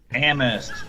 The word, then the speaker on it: Amherst: I think is that how it's Amherst. I wanted to see if you catch it. This is a joke from the other day when I mispronounced it. There you go. Yes. There you go. Still. Yeah, the H didn't want to go with the right spot.